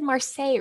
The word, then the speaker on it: Marseille: the tarot of Marseille and I know I said Marseille right because that's yay it's similar to the Versailles like versus uh yeah okay so Marseille marsai however if you're